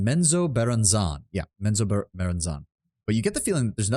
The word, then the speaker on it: Menzoberranzan: Am I pronouncing Menzoberranzan? Yeah, Menzoberranzan.